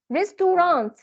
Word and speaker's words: restaurant: runs risks to runs there are three syllables so it is like this okay let me show it to you it will be like this restaurant restaurant right so but if we Elite this syllable it will be restaurant restaurant restaurant okay and this words